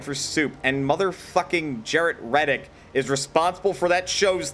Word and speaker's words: Reddick: Jarrett Reddick, lead singer and guitarist of Bowling for Soup. Also, his name is spelled as it sounds, Red Dick.